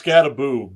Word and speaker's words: Scataboo: So is his name Scataboo or Scatabo? It's Scataboo, but he doesn't know how to say it.